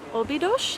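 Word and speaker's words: Óbidos: we have made it to the town of obidosh I learned how to say that on the bus I feel like I'm pronouncing things right and then I hear how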